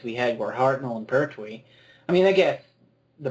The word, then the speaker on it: Pertwee: Well, And Petrie, I think Petrie was in his 60s though. I love your pronunciation of some of these actors' surnames. Pertwee.